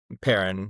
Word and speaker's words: Perrin: Karen Larton? Is that how you pronounce it? Perrin with a P.